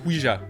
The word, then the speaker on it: Ouija: Donc la tablette Ouija, que nous devrions prononcer Ouija puisque ça vient d'un combo entre le oui français et le ya allemand, qui veut dire oui